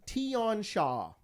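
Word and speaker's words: Tian Xia: It's pronounced Tion Shah.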